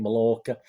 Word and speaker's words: Mallorca: york i don't know i pronounce it m a double l o rca mallorca they sit they still